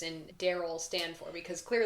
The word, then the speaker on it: D.A.R.Y.L.: Is it Daryl or is it D A R Y L? I'm gonna say let's pronounce it Daryl.